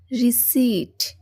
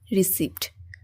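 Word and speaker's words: receipt: আপনারা সবাই দেখতে পাচ্ছেন রিসিট রিসিড কিন্তু আমরা সবাই ভুল করে এটাকে বলে থাকি কি রিসিভ বাট ইটস নট not correct because এটার অর্থ হবে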